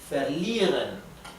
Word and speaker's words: verlieren: Verlieren. La I con la E se pronuncia I, con una I más larga.